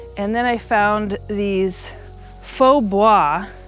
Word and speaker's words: faux bois: It's kind of a weird word. It's a French word. So it's spelled very differently. If it's Faux bois. So it's not really pronounced how it would be spelled if it was in English.